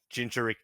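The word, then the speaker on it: Jinchūriki: I'm not pronouncing that fucking name. Jinchuriki. Jinchuriki, thank you.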